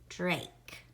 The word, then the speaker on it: Drake: That silent E is making that A say its name. Drake.